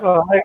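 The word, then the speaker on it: foie gras: It's called Fulgra or something like that. Fogwa. Yeah, Fogwa. I can't Yeah.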